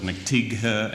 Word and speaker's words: McTighe: They'd want to pronounce every single syllable, every single letter. So it was McTighe and McTighe, and forget about it.